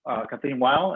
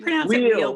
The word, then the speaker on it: Weil: So among them are Bernard Fallon, Fran Nichols, Joy Gonzalez, Kathleen Weil. Did I say that right? Kathleen Weil. Yeah. We pronounce it Wheel, but it doesn't really matter.